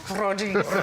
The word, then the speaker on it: Rodriguez: I know when you don't put that heavy tongue on it. Gina I'm like, who? Rodriguez. Roll your R's, sis.